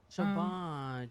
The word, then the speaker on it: Siobhan: I thought it was, I used to say Siobhan, he said Siobhan.